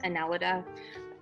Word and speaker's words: Annelida: is our new phylum it's phylum analeta um it also can be pronounced aneleda i like analita um so phylum analeta a little bit of